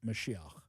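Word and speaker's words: משיח: Okay, he mispronounced it, and he also mispronounced Chabad. But, okay, what is Mashiach? It's actually pronounced Mashiach. That is the Hebrew word for the Messiah.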